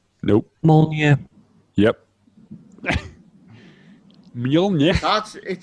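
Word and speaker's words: Mjölnir: Right, I want someone to pronounce it Mjolnir. correctly. Go on. Mjolnir. Nope. Mjolnir.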